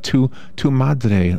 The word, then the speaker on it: Tu Madre: She's the owner of Tu Madre Latin Cuisine.